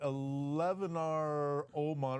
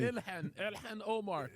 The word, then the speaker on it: Ilhan Omar: Eleanar Oman, or how do you even say that? That is so funny. Ilhan Omar.